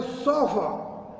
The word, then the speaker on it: chauffeur: इसको हम कह सकते हैं सोफा, सोफा, देखिए सोफा, मतलब मैं इसको अगर आपको लिख के दिखाऊं उसका प्रोनाउंसिएशन तो SHOWFUH ये प्रोनाउंसिएशन बनेगा इसका।